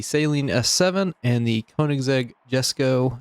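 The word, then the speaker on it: Jesko: s7 and the koenigsegg jesco yes go however you want to pronounce it a big thing on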